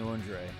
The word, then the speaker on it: Andre: like ENT like and like entree like Entre that's what I was